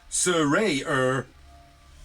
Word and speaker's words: Saraya: So yeah, Saraya is all elite. A leg end. And it's pronounced Saraya, because she said so on a tweet earlier.